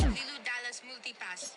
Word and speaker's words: Ibiza: Ibiza, Ibiza, yeah, that's pronounced Ibiza, actually.